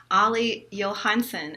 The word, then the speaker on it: Olle Johansson: Olle Johansson and I I think I pronounced it right because my last name used